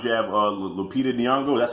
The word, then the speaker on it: Nyong'o: to today's times you have a little Lupita Nyong'o that's how you say it last name Pepita